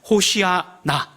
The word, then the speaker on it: 호산나: 구원하소서 라고 하시는 말씀이 호산나 고 또 히 부려 발음을 조금 더 정확하게 한다면 호시 아 나 라고 이렇게 되어 있는 것입니다 왜 이렇게 말씀을 드린